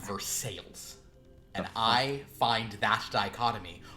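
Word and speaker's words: Versailles: Court of King Louie Summer Palace and they pronounce it versales spelled the same way thing I've ever heard it's pronounced versales and I find that dichotomy or as we'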